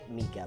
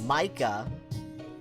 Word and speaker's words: Micah: I keep wanting to say Mika, but it's Micah.